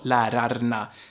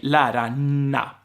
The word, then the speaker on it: lärarna: But if I want to stress a word, it's normal that I would pronounce every letter as a Swede. So lärarna is how I say it when I want to be clear. However, we don't talk like that. We say lärarna.